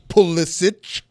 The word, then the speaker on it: Pulisic: I'm going to pronounce it right, like Kristen Pulisic with a ch, not a k.